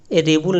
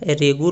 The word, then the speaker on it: रेगुर: Question number 19 होगा, किस मिट्टी को रेबुल मिट्टी, रेबुल नहीं होता है, रेगुर होता है, ठीक है, रेगुर या फिर रेगुल, यहाँ पे गा का उच्चारण होगा।